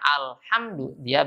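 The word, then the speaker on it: الحمد لله: dia akan mungkin bisa salah dalam pengucapan huruf H yang saya Sebutkan dalam ayat yang pertama tadi yang harus baca alhamdulillah baca alhamdulillah lillahi rabbil alamin bukan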